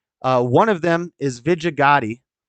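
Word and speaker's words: Vijaya Gadde: of them is vijigati I'm gonna pronounce it right I know everybody I think a lot of people jokingly pronounce it wrong but it's but they're not actually joking they don't know how to pronounce it it's Vegeta Gotti and uh numerous other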